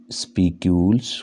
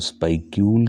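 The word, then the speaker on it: spicule: ये स्पीक्यूल्स, कई लोग इसको स्पाइक्यूल के नाम से भी प्रोनाउंस करते हैं, स्पीक्यूल्स।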